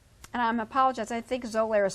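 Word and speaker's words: Xolair: i'm apologize i think zolaira is spelled with a z not an x but is an x x okay that's correct it's pronounced with a z zolair and then there's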